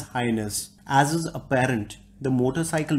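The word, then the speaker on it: H'ness: Honda could not register the word Highness and therefore has gone ahead and registered the word Hness, pronounced as Highness.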